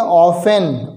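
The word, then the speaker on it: often: ऑफ़न, ओ एफ टी ई एन, इसमें T silent है।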